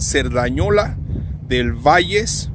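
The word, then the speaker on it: Cerdanyola del Vallès: Se pronuncia en catalán Cerdañola del Valles, un pueblito cerca de Barcelona, España.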